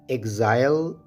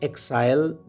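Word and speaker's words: exile: करते हैं equip embarrassment इस लफ्ज को हम एजाइल या एक्साइल दोनों तरह से प्रोनाउंस कर सकते हैं एजाइल की मीनिंग है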